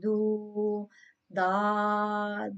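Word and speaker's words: ضاد: No, this is pronounced from the edge of the tongue, side of the tongue touching the mole on the roots of the molar, like dod on it.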